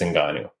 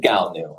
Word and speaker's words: Ngannou: were going to announce the signing of Francis Ngannou. I had prepared this poster to launch this week thinking 100% this is what's about to happen. And that's what I think was expected to happen. Ngannou.